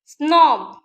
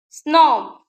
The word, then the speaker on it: snob: Snob, Snob. Okay, we are pronouncing the letter B.